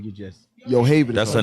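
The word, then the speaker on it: Yocheved: She pronounces it Yohavid. I was about to say Yakovid. I was about to say Yakovich. That's what I first called her. She was like, no, it's Yohavid.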